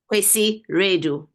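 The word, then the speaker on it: Kwasi Wiredu: It's Kwesi Redu. Kwesi Wiradoo. Yes. Oh, it's Kwesi. Okay. I looked it up, but it's Kwesi Redu. What was that? Kwesi Redu.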